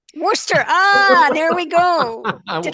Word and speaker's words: Worcester: lecturing and mentoring students at Fitchburg State University Worchester State University Emerson college and Boston University well